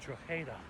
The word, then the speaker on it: Drogheda: He said the G is silent. And he said it's Drogheda.